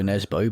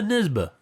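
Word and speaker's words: Nesbø: norwegian crime author uh everyone else calls it joe nesbo but as i believe is meant to be pronounced yeah you're nisba he or they say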